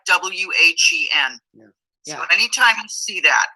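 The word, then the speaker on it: Nguyen: that is spelled n-g-u-y-e-n it's pronounced when just like w-h-e-n so anytime you see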